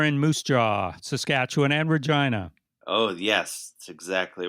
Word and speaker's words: Regina: And of course, Regina makes you giggle. Oh, absolutely. It will never not make me giggle. And this is because it rhymes with a part of the anatomy of females.